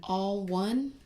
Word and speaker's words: Alwun: It's spelled weird. It's spelled like ALWUN. So all one, like, but we're all one community. So they are being clever with it.